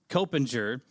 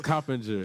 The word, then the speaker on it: Coppinger: offensive linemen here, Liam Copinger, Anthony Johns, and Antonio Gaines. Did I say it wrong again? Yeah, you said it wrong again. It's Coppinger. Coppinger.